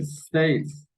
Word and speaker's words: states: La siguiente, states. Esa palabra empieza por S, no por E, ¿no?